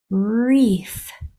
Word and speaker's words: wreath: F only air so the sounds are r e f pushing those sounds together you have wreath wreath beautiful let's try this